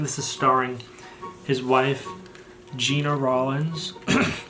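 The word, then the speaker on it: Gena Rowlands: is starring his wife gina rollins although i've heard it pronounced jenna rawlings this is from 1974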